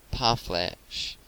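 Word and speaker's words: parfleche: their almost impenetrable shields the word is commonly pronounced by americans par flesh with the accent the last syllable in making these rawhide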